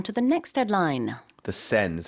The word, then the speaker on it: Seine: The Seine is how I pronounce it, right? The Yes. Seine, okay.